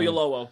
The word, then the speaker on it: Oyelowo: I think everybody, like on the ship you've got, is it Felicity Jones and David I can't pronounce his last name. Oyelowo.